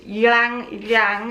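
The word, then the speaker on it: ylang-ylang: picked you'll need the word that i can't say which is yang yang which is y-l-a-n-g oil i got this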